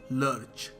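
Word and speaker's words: lurch: Left in द, इसको pronounce कैसे करेंगे, आपको क्या लगता है? लर्च।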